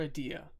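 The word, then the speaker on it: Edea: Is it Ida or Adia? Because I've heard it both. Adia. Adia. Okay. And that's the way I pronounced it as.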